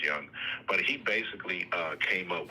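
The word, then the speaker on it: Jung: Oh, um it's spelled like June June, but I think it's pronounced Young.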